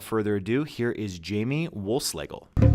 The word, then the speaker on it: Wohlschlegel: it and without further ado here is Jamie Wolfe Schlagel thank you so much Jamie wolf slagle for joining me today thanks great great to be here and a nice pronunciation of my last name good way it